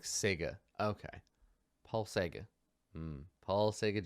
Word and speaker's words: Czege: of their own adversity apparently it's pronounce something like Sega okay Paul Sega Paul